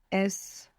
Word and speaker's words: es: English speakers should beware that maybe they feel themselves pronouncing a Z, because many times we have an S in English, like in the word is, and we pronounce a Z. So you might find slipping out as, but this is incorrect. You should be careful to pronounce an S.